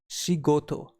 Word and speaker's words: 仕事: And in combination, we spell these two kanjis together as shigoto, which stands for work or job.